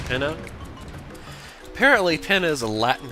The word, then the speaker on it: Pinna: like pineapple to me but i guess it's pronounced pinna apparently pen is a latin term for a